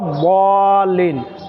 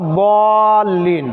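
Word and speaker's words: الضالين: গাইরিল মাগদুবি আলাইহিম ওয়ালা দলিন ওখানে তো কেউ দালন করে না ওয়ালা দল্লিন তাই না এই যে দল দল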